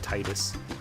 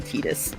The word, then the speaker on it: Tidus: Alright, and make sure I fight Titus. Or Tidus, how you say his name. I like Titus more, but it is apparently Tidus.